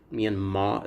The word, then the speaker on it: Myanmar: Council historic censure of military of Myanmar Junta Myanmar is the correct pronunciation but as I'm reading I won't slow